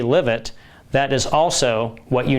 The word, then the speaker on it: LIVET: I coined the name live it because diet is spelled d i e with a t.